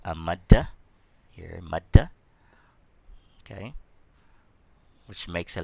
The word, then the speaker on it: Maddah: Here, Maddah. Okay, which makes a letter very long. You pronounce it, it's elongated.